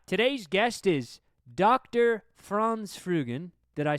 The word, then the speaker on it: Franz Frugen: France Fugan. Did I say that right? Yes. That's good. Good uh pronunciation of my name.